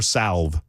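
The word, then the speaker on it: salve: ointment ointment yeah I I prefer salv and I will pronounce the L but anyway thank you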